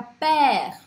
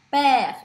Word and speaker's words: père: E que é, por exemplo, na palavra père, père, eu abro este som.